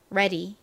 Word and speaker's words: ready: 보면 레디가 됩니다 레디 그런데 미국식으로 발음하면 이렇게 아래 뒤에 모음이 쓰인 경우에는 보다는 레에 가까운 소리가납니다 ready ready 발음 연습해 볼까요